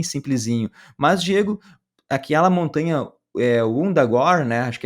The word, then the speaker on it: Wundagore: E o Wundagore se escreve com W-U, né? Então esse W-U em inglês muitas vezes, em vez de virar Wunda, vai virar Wanda, né? Então fica meio parecido com Wanda, né?